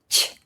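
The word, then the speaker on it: ч: Ch. Like in "chimney". "Chimney".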